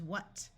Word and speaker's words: what: WH has the sound of W in most of the United States, so this word is what.